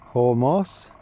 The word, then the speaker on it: Hormuz: So they can't open the straits of Hormuz. That's the correct pronunciation and it's going to be crippling for the west, for the UK.